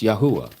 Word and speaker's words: Yahuah: It's Yahuah. Let me spell it out for you. Y A H U A H, okay?